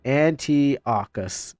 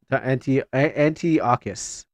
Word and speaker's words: Antiochus: I'm overlooking it, but I'm trying to find how this is pronounced again. Okay, there you go. It's Antiochus. Antiochus.